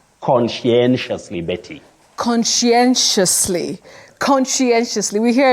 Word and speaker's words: conscientiously: find themselves talking about consciously consciously so many versions but the correct pronunciation of that word is conscientiously Betty conscientiously conscientiously we